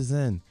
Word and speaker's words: Xen: I'm an organic zenan I thought Zen was stupid because of the X I didn't comprehend it I was like Zen spelled with a z but X is a